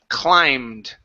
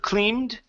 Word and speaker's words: climbed: next one here is climbed ok instead of cleaned ok climbed the B is silent climbed ok good so